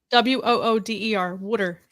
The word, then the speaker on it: water: Wooder. Water. Water. Water ice. Water. It's how you say it in South Jersey.